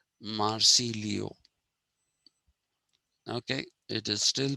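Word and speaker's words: Marsiglio: marcilio is this but bertrand russell uses this spelling marci glio it is written but it is still pronounced marci leo okay it is still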